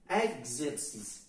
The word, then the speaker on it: exercice: s'il y a l'accent exercice ce n'est pas il se regarde bien le E n'a pas l'accent et pourtant il se prononce elle ce n'est pas exorcisme exercice pourquoi tout simplement qu'est-ce qui